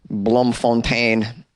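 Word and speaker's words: Bloemfontein: when Marius zubert from blon font am I saying it right it looks like it's begging to be pronounced with a French accent but probably not proper Blom Fontaine this guy didn't show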